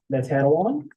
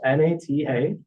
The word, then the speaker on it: Natanawan: The second part is Natanawan. That is spelled N-A-T-A-N-A-W-A-N.